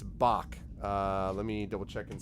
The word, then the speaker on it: Bach: to you okay it's Bach let me double check and see I don't remember obviously back rhymes with Zack Bach look there's his cape